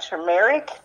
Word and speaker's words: turmeric: nausea - exactly I never know if I'm pronouncing this right turmeric yes yes you got it now I have